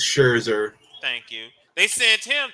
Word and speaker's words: Scherzer: weekend they sent uh Max schwarza I know I know I mispronounced his name Max Scherzer thank you they sent